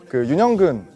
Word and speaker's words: 윤: 많은 분들이 아마 이제 윤이라고 읽거든요. 연이라고 읽으실 수도 있고 뭐 여러 가지 방법으로 읽으실 수 있는데 윤영근 화백님의 성입니다. 그래서 외국에서는 윤이라고 많이 부르기 때문에 제가 그 윤이라는